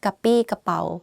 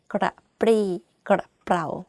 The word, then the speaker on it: กระปรี้กระเป๋า: If you can't, just say กระปี้กระเป๋า It's not 100% grammatically correct, but people still can be able to understand what you're saying. กระปรี้กระเป๋า Even I can see that I have some difficulty pronouncing this word.